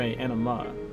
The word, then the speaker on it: Anima: Not anime, Anima. Oh, but it's spelled to anime?